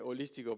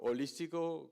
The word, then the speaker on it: holístico: Se dice holístico, pero holístico, como no se pronuncia la H, suena un poco raro.